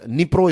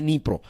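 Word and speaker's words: Dnipro: देख रहे हैं राइट निप्रो इसको कहते हैं राइट डी से इसकी शुरुआत होती है स्पेलिंग की लेकिन प्रोनाउंस एशन है निप्रो तो ये निप्रो रिवर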